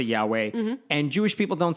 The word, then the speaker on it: Yahweh: In the translation, don't ask me about the specifics, but basically we pronounce it Yahweh, and Jewish people don't say it because you're not supposed to say God's name.